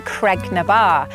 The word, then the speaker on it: Creg ny Baa: Creg-ny-Baa, Rock of the Cows. The traditional pronunciation of this place name has changed over time to become Creg-ny-Baa, and it has been known as such for several decades now.